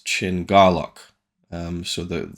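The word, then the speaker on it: Chin Kar-lok: me as read is Chen car lock um but it's chin Garlock um so the the car becomes gar at least in the way they're pronouncing it if that's right see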